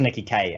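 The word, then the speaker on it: Nikki Kaye: And that brings us to Nikki K. That's how we say the name. Say it right. It is Nikki K, and it's just my bad for not actually having said it out loud ever.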